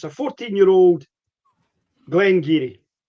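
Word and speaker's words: Glen Garioch: For those who who didn't know what I'm talking about, they might think they've seen Glen Gerio. They think it's Glen Gerio. It's pronounced Glen Giri.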